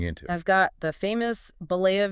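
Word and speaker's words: Bollea: I've got the famous Bolava v. Gawker case. And remember that's pronounced Blea.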